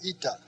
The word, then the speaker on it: eta: then after zeta comes ita just like our english n come down a little bit below the line and that is a long e sound e e as in feet just like in english